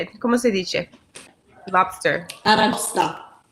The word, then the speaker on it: aragosta: Aragosta. Aragosta.